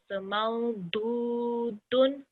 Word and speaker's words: موجود: It's pronounced as a thick one, but you're not going to say the. It's a do. So maududun.